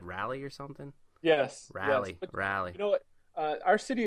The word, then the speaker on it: Raleigh: Now I'm making a point to actually pronounce that correctly. Sherry, she said Raleigh or something. Yes. Raleigh.